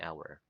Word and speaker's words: hour: hour or an hour is it right to say a hour or an hour it's right to say it's right to say an hour why why because the letter H in the word hour is silent very good okay did